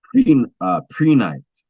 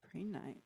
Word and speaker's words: Prehnite: Pre-night. And that's spelled Prehnite. Pre-night.